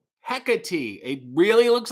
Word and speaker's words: Hecate: he kate said rj my screen name is pronounced heck a t hecate it really looks like